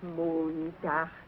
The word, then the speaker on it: Montag: Sonntag, Montag, Dienstag, Mittwoch. That is good, but pronounce the words broader, so Sonntag, Montag, Dienstag, yes?